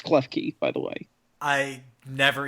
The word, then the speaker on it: Klefki: It's Klefki, by the way.